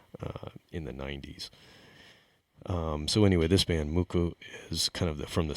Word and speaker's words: MUCC: It's a band called MUCC, and it's spelled MUCC, all caps. I've heard different pronunciations, but I believe it's MUCC.